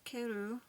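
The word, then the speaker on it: カエル: It says in Japanese the word for frog, which is keru, with the accent on the second syllable, and the word for return, keru, with the accent on the first syllable, are the same, except for the accent.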